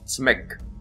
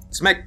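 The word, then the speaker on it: CMYK: In Ukraine we just pronounce it Tsmyk. Tsmyk color space.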